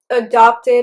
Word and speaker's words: adopt: So you can say that you just adopted a dog. And also the stress in both words is on the second syllable. There is only a difference in the second syllable's vowels. The first one is a, the second one is a.